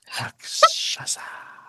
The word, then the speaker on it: Rakshasa: The word that Doug mispronounced, which we'll talk about later. Rakshasa.